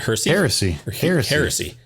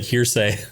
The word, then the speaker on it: heresy: three do you say how do you even pronounce it is it heresy yeah it's it's basically like um for the longest time I thought it was like hearsay no no no no a